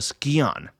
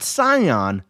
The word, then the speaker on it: Scion: and the Hunt for the Skon, not Scion, Skon. Now, that's a very important thing. A lot of people pointed out down in the comments below. I apologize for pronouncing it wrong. It's Skon.